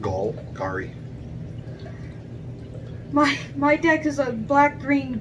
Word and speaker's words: Golgari: My deck is a black-green Gargari deck. Try again. How do you pronounce it? Golgari.